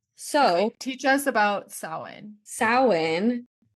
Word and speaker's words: Samhain: Samhain, like we said, it's spelled like it would be Samhain. It is not.